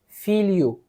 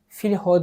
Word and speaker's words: filho: Portekiz alfabesindeki okunuşları mesela L ve H harfleri yan yana geldiği zaman l y şeklinde okunuyor Örnek vermek gerekirse feel you F you filho değil işte ilk gün bu